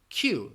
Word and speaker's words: queue: again the pronunciation of the spelling and the pronunciation can throw people off a little bit you're saying it you're pronouncing it like you are saying the letter Q the name of the letter Q Synod and you just pronounce it Q Oh God yesterday I